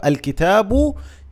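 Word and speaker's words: الكتاب: If you have noticed that I'm saying L. So, actually I pronounced the lam.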